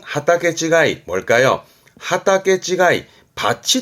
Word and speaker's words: 畑: 발음은 하게 하게 뒤글자 있던 거 다르단 얘기죠 발음은 하타게 지가이 뭘까요 하타게 지가이 밭이 다르다 밭이 다르다는